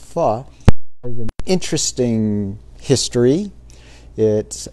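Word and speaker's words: phở: you very much louisa so um p-h-o but pronounced phi has an interesting history it actually was uh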